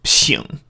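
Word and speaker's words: 省: I just saw it, and because of the context of the surrounding text, I knew this must be pronounced xing.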